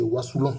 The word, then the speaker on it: Wassoulou: Bon, il a dit que la meilleure prononciation c'est wasouon mais bon le thème wasouon a était tellement retenu.